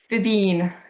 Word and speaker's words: Fíbín: I probably should have asked how to pronounce Fíbín Media. There's a little, how do you say that? Yeah, Fíbín.